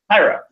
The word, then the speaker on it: Jairo: guessing joy pyro and say H or J and then I'll be able to pronounce it it's Jairo okay cool all right Jairo then we appreciate you